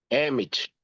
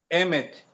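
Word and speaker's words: אמת: Emit. M. Cuidado com essa última pronúncia aqui, tá? M. Isso aqui é um tezinho fraco. É, é, é, é eh eh quem pronuncia Emet com esse T muito suave no final.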